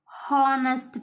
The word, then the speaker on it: honest: person an umbrella here h is a silent one we pronounce honest person so only we